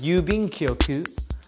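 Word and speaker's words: 郵便局: then there's a third one here and it's pronounced in Japanese yubing koku and that means post office so if you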